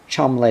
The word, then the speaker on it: Cholmondeley: by the name of Lawrence Cholmondeley Jones, which he pronounced Chumley Jones.